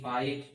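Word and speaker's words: fight: देखो दोस्तों, जब भी किसी इंग्लिश वर्ड में जीएच हो और उसके ठीक पहले स्वर हो या जीएच के बाद टी हो तो जीएच का उच्चारण नहीं होता है।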